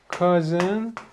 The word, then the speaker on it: cousin: cousin 쿠폰 참 이상하죠. 같은 오유인데 이거는 cousin이 되고요. 이거는 쿠폰. 그러니까 이거는 그 발음을 그대로 가지고 있어요.